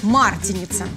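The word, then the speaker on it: Мартеница: этой тени узнала что мы говорим марте нет свободу болгарии принято ударение ставить на первый слог марте лица спасибо малина за участие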